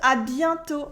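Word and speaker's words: à bientôt: you can also use adianto see you soon especially if it's not in the same day whether it's final t is silent as well is the shorter version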